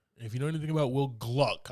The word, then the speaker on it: Will Gluck: If you know anything about Will Gluck, I say that. I got to say it like that because his name gets messed up a lot.